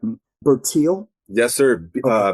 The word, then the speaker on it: Bertil: Bertil. Yes, sir. Uh, B is in boy. E R T I L.